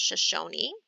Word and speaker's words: Shoshone: explain what you're doing so this word is pronounced shoshone and they are a tribe shoshone baskets using grid paper for art the shoshone